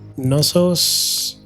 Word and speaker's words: Knossos: We can sell some grain to Athens, Knossos, I think K is silent, and Komi also.